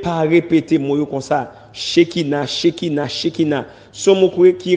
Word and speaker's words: Shekina: Ça veut dire qu'il prononce Shekina.